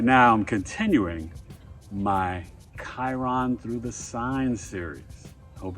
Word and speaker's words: Chiron: You can see it's like the little circle and a line with the K, but it's spelled Chiron. Go figure.